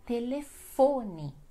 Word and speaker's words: telefone: A segunda é telefone. Em espanhol vocês dizem teléfono, mas em português é telefone. Então a mais forte é fo, né? Telefone.